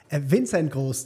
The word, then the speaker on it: Vincent Gross: Vincent Gross, tatsächlich. Spricht man es Deutsch aus und Gross wie klein.